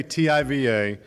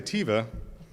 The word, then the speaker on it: TIVA: you sometimes know that we say tiva and sometimes we say teva and you may be wondering which is the correct way to say it well officially it's both we are the texas